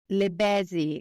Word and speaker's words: Bézy: Bézy. Almost busy, but Bézy.